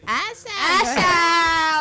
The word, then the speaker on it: Usher: Say his name again. Usher. Like, Ain't no R in it. And no R whatsoever. It's not She how it's dragged spelled. it. She said Usher. It's literally to Usher.